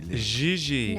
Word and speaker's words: JJ: Gigi. No, I mean JJ. Gigi. JJ. En français, you pronounce G like J and J like G.